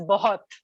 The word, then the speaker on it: bahut: than some words like bahut which is of course written as bahut but is pronounced as both right i mean other